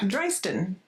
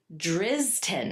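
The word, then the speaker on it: Drystan: D R Y S T A N. Dristen. Okay, let's see. Phonetic, people. It is drizzen. No, it's not. It's Dston. That is how you say it.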